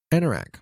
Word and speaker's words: anorak: iraq yeah okay i was saying it right anorak okay anorak so i did pronounce that anorak is a waterproof jacket typically